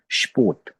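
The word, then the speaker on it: Sport: अब हम इस लफ्ज को प्रोनाउंस करेंगे तो ये लफ्ज होगा स्पोर्ट, स्पोर्ट, ठीक है।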